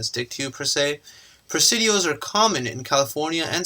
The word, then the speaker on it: Presidio: Spanish military settlement and Presidio rhymes with coccidia so that's what they